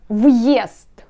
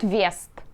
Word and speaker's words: въезд: Въезд. This correct when you pronounce въезд, not вест. Вест, it's not correct. Въезд, correct.